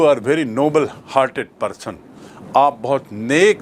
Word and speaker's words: Nobel: उस पुरस्कार में मिलता है, उसे कहते हैं नोबेल पुरस्कार, जो एक व्यक्ति के नाम से है, सर अल्फ्रेड नोबेल, और उसकी स्पेलिंग है NOBEL।